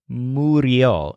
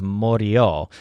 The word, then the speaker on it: murió: Su tío murió. Now actually that's pronounced as murió instead of morió, just for the sake of pronunciation.